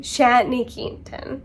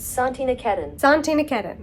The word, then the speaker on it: Santiniketan: Anne pronounces it Santiniketan, but it seems as though the correct pronunciation is Santiniketan.